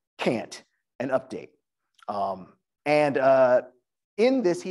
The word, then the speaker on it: Cant: So the poet critic Fred Moten, who I mentioned earlier, has an essay called Black Cant, pronounced Cant, an update.